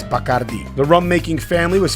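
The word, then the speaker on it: Bacardí: over the last eye putting the emphasis on that syllable in English we say Bacardi but in Spanish it's bakardi the rum making family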